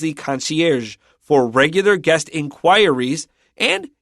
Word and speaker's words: concierge: We're not saying words like concierge. Okay, I said it with an American pronunciation. In real French, it's more like concierge, but we say concierge in English.